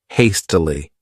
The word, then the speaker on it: hastily: This word has three syllables and the stress is on that first syllable hastily.